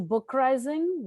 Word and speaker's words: BookRising: Hello, everyone, and welcome to BookRising, which rhymes with uprising.